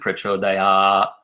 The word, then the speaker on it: Prachodayāt: So you pronounce it that way when you're speaking. When you're singing, you add that little sound at the end. Prachodayāt, Prachodayāt.